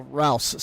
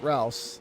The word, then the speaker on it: Rouse: I think I just saw uh Rouse, sorry. I keep saying Roose. Rouse.